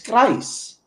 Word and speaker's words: Greiss: And so Thomas Greiss, I'll say it anglicized, is Greiss. That's how they say it in Germany.